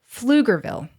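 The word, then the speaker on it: Pflugerville: see it now so PF l u g e r v i l l e do I want to change my answer uhhuh flug Grille D that's actually right and I'm so upset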